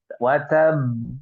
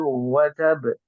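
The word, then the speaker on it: وَتَبَّ: Tabbat yada abi lahabi watab. Watab ya. Padahal sini ada tasdid, harusnya watab seperti itu ya.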